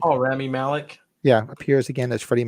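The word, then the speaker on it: Rami Malek: rat's ass they understand the truth save me Remy Malik how do you say his name that was that was got to play Freddie Mercury right oh Ramy Malik yeah appears again as Freddie Mercury and that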